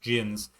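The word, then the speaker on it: djinn: The land of Shapir may be plagued with elementals and jins pronounced gins, but this city will ever stand as long as there are heroes such as yourself.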